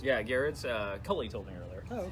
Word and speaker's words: Gerads: Gerads? Yeah, Gerads. Cully told me earlier. Oh, okay. He says that, or it's pronounced Garrett.